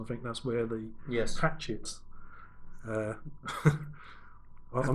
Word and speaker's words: Hachette: Oh, I thought it was doing a Hachette job. Exactly. Is it Hachette? It's Mrs. Bucket. Hachette. It'd be like a French pronunciation.